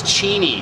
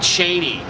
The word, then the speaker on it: Cheney: By the way, it's Cheney, not Cheney.